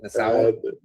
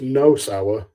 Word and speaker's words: Nosawa: How do you say that Asian guy's name? Nasawa? So it's Nosawa and Miyamoto.